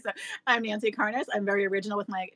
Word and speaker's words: Karnas: you for saying that because no one ever pronounces it right so I'm Nancy Carnes I'm very original with my channel name of